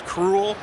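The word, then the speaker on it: Krul: With the Brightest Day panel, we had Ian Sattler, James Robinson, Jeff Johns, JT Cruel, and they made sure how to pronounce his last name, and it is Cruel.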